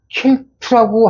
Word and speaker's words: Celt: 근데 켈트라고, 우리는 켈트라고 하는데, 영어 발음은 켈트에 좋고 셀트에 좋습니다. 이게 수염은 켈트족 살리기 위해서 크 발음하면 돼요.